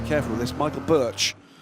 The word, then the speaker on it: Birch: And the correct pronunciation of the surname Birch is Berg in Danish, but it's Birch in English.